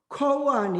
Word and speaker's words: Koan: Koan is the Japanese pronunciation of Gong'an, the Chinese word. Gong means the public, the official. Gong means an means document, text, official document. Japanese pronounce that as a koan. In Korean, we usually say that Gong'an, but it's very.